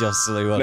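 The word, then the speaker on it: Joselu: I can't pronounce it. Josulu? It is Josulu.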